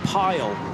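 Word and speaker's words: Pijl: His surname is actually uh I think it's pronounced Pile as in P I J L. The I and the J I'm always told by Dutch friends, is pronounced with a Y in English.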